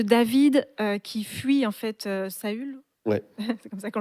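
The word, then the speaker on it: Saül: ça parle de David qui fuit en fait saull ouais c'est comme ça qu'on le prononce et euh ça dit dès lors et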